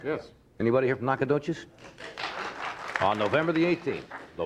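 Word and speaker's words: Nacogdoches: the 7th and Steven Austin University in uh nadas Texas did I pronounce that right yes anybody here from nakad dois on November the 18th the one and only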